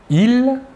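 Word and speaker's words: ils: personnel sujet tout d'abord le masculin il l'a s final ne se prononcent pas et le pronom personnel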